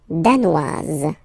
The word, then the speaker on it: danois: Le Danemark, danois, danoise, z, okay, insist on that, danois, don't pronounce the final S, danoise, here you pronounce it.